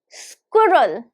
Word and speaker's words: squirrel: pronounced as, listen carefully, squirrel. Squirrel. Squirrel. Now, how many syllables? Squirrel. Looking at this word, it can appear there are so many syllables, but exactly there are just 2 syllables.